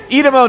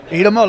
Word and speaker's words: Idemo: Edamo Nuggets. Do you know this? Edamo Nuggets? I'm sorry? Do you know Edamo Nuggets? Idemo, like the Serbian.